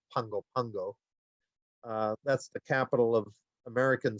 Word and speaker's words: Pago Pago: They actually pronounce it as though there's an N in there. It's pronounced Pungo Pungo.